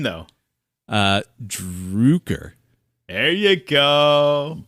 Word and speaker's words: Droucker: Droucker. There you go. Droucker.